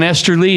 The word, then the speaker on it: Esterly: And what I like about John Esterly, his name when it rhymes with Westerly, which was the not